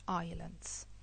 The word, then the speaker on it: islands: with some Greek islands the S is silent Greek islands.